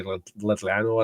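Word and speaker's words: Llanelli: I was told to pretend I have spit in my mouth when I say Letlano.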